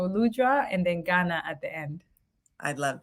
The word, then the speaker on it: Lujwangana: me that um but it's lud Ghana so lud and then Ghana at the end I